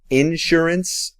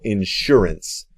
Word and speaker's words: insurance: Anote que está bien pronunciarlo un poquito diferente. Puedes pronunciarlo insurance o insurance. Puedes poner el acento en diferentes lugares en esa palabra.